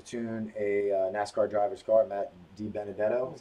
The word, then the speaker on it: Matt DiBenedetto: We were lucky enough to tune a NASCAR driver's car, Matt DiBenedetto, is how you say it.